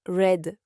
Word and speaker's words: read: Mais au passé et au participe passé, on prononce red comme la couleur rouge.